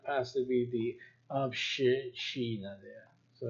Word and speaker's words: община: You see, it's not a doubling, it's Obshchina. Община. I know it could not possibly be the Obshchina there.